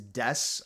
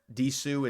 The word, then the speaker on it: Desu: This coin is the pronunciation of this is Des, I believe. The U is silent. It's not D. It's not Desu. It's Des.